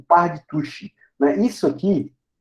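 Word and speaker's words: al-Tusi: A pronúncia normalmente é Tushi, que você vai achar.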